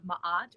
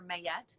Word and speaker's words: Ma'at: as the feather of Ma'at or may yet it depends on how you want to pronounce it then you can pass